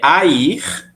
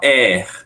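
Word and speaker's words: haïr: exatamente esse trema que faz eu pronunciar Air e não er tá parece é igual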